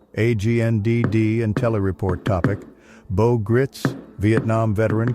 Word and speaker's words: Gritz: His wife, Judy Gritz, announced his death on Facebook. She did not provide a specific cause. Mr. Gritz, rhymes with fights, was often compared with